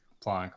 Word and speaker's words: Planck: after the physicist Planck, which is German. So traditionally, you would say it Planck, but because it's kind of an international unit, it's kind of whatever place wants to say however. Okay, so neither pronunciation is wrong, right? But I will always say Planck in my videos and whatever I do.